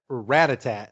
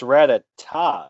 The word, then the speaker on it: Rattata: I never really figured out how to say this Pokemon's name right, but I believe it's pronounced Rattata. It's Rattata, isn't it? Rattata. Okay, yeah. Because Rattatat, that's like music, Rattatat.